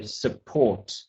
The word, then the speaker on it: support: Okay, so Hung, just the word support, just to say the T on the end, just to focus on pronouncing that T. So support and estimate.